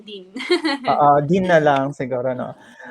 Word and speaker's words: Dean: Pwedeng Dean, pwedeng Dayan. Pero para Okay. one syllable lang, Dean.